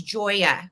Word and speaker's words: Joya: Okay, Michael, she told us how to pronounce her name, and it is Joya.